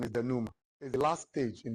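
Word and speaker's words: dénouement: It's spelled denment but it's not denowment. The pronunciation is denoma is the last stage in the story.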